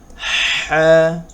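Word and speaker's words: ح: এখন প্রাথমিক অবস্থায় সা জিম জিম জিম হা হা, গলার ভিতর থেকে উচ্চারণ হবে হা হা খ খ আচ্ছা, আমরা আবার শুরু থেকে পড়ি।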